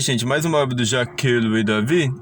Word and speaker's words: Jacques-Louis David: Jacques-Louis David, sim, é assim mesmo que eu pronuncio o nome dele com toda essa frescura, Jacques-Louis David, foi o maior representante da pintura neoclássica.